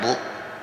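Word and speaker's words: book: dibacanya apa Blood kalau b o o k Kenapa dibaca Bu ini huruf opukan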